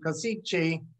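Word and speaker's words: Košice: gateway between the east and the west and kosice is the proper pronunciation and i'd like for you to note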